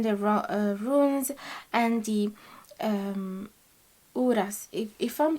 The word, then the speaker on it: Uruz: runes and the um uras if if i'm pronouncing it right let me check yeah i think you can say uruz or uras so your person is